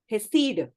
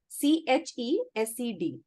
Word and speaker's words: Chesed: So she's called Hesed. लेकिन उसका pronunciation है CHESED. CHESED. Hesed.